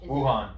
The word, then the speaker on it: Wuhan: How do you pronounce it? It's W-U-H... Wuhan.